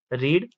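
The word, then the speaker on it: read: Have children रीड their books.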